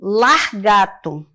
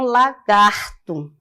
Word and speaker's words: lagarto: sair né automático e acontece esse desloc do r no interior da sílaba por exemplo largato você ouvir alguém falar largato e tem que não fala de jeito nenhum lagarto né é largar preguntar